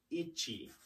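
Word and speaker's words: いち: with that being said if a word ends with the letter I sound that letter I sound is typically cut off at the end so technically if you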